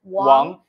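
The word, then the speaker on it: 王: This means king, and it's pronounced as Wang. W-A-N-G. Actually, our photographer team, his first name is Wang. Last name. Like the actually the family name, right? Family name is Wang. Okay. I think American people would like to pronounce like Wang. Yeah, but it's like Wang.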